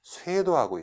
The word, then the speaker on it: 쇄도: 자, 일단 우리말도 잘못 읽었죠. 살도라고 읽으시면 안 되죠. 어떻게 해야 되죠? 그렇죠. 쇄도하고 있다.